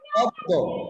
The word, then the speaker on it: পদ্ম: দ এর উচ্চারণটা কয়বার হবে দুইবার দুইবার আমরা উচ্চারণটা কিভাবে করব পদ্ম পদ্দ তাহলে এখানে দ টা দুইবার রয়েছে এই ছিল